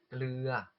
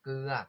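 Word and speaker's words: เกลือ: 소금은 글르아 글르아라고 하거나 여기 리을 발음이 또 살짝 결합자음에서 묵혀가지고 그아처럼도 들리실 거예요. 그래서 그아 또는 글르아라고 하시면 소금이 되니까 거 글르아 너이크랍 또는 거 글르아 너이카라고 하시면 소금 좀 주세요가 되고요.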